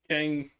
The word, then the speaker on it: Kang: is Tang, and it rhymes with my name.